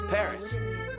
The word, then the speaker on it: Paris: 16% of the people of France live in Paris. Wow, so this is Paris. I can't believe that I've never visited the capital of France before. Yeah, well, the locals pronounce it Paris.